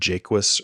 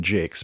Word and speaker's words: Jacques: And they have this interview with Brian Jakes, which I should say this because I said Jacques or Jacques or something. Jacques. And I was corrected helpfully. Thank you. It's Brian Jakes.